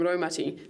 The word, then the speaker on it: Raumati: The ro from Raumati sounds like rowing a boat.